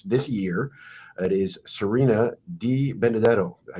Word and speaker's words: Di Benedetto: It is Serena Di Benedetto.